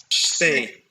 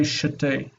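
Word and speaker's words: שתי: Shtei Yaldot. Shtei Yeladot. Shtei Yeladot. These numbers, they're consonant clusters. You won't hear anyone say shetei. It's shtei. Shtei Yeladot.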